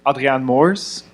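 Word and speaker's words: Adriaan Moors: so I'm I'm um Adrian Moors um this is kind of like the hybrid um pronunciation for the the Dutch first name and um English version of my last name um I've been working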